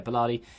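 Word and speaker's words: Balerdi: Yeah, Bellardi.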